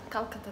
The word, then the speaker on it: Calcutta: out for a flight too India called Calcutta Calcutta that's how to pronounce it so I'm gonna be back at midnight and now it's only 10:00 a.m.